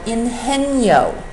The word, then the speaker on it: Ingenio: And one of the most interesting incubators that I've been to is called Ingenio, I-N-G-E-N-I-O, which is the Spanish pronunciation of the word ingenious.